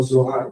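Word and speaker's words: זוהר: Yo me gusta pronunciarlo como Zohar, como es en hebreo.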